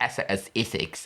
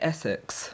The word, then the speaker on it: Essex: No, the RP accent to pronounce Essex is different from how Esex people. What's RP? RP is receive pronunciation. Basically, BBC, standard English. Okay. So, they would say Essex.